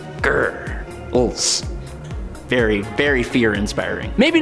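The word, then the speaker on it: Grrls: That's spelled G-R-R-L-S, like grrr, ulz.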